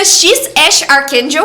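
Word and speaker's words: X Æ A-12: Não dá para esquecer o nome do filho do Elon Musk, que é X AE a -1, mas que pronuncia X Ash Arkel.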